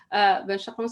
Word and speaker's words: Benchekeroun: She always appreciates the fact that we have to pronounce our names the proper way, which is Benchekeroun.